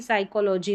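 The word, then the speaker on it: psychology: फिर है पी और एस। यहां पर इसको भी स पढ़ेंगे क्योंकि पी यहां पर साइलेंट है। जैसे कि साइकोलॉजी में रहता है।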